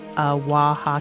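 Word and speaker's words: は: that character that waha character. So, you have a character for it looks like a ha, but it's pronounced as a wah type thing.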